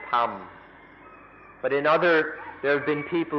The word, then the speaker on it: ธรรม: In Thai, they don't even try, they just pronounce it tham.